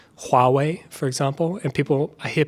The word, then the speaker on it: Huawei: saying Huawei instead of Huawei, because they're not pronouncing the H. So in Chinese pinyin, they do pronounce the H, right?